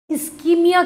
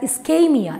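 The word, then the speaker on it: ischemia: Kis wajah se hota hai, जब हमारे body को इस्कीमिया के थ्रू गुजरना पड़ता है. इस्कीमिया का मतलब, don't pronounce it एज इस्केमिया, इट इज इस्कीमिया.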